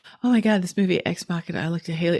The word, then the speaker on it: Ex Machina: For everybody listening, we watched, the last time she was here, we watched the movie Ex Machina.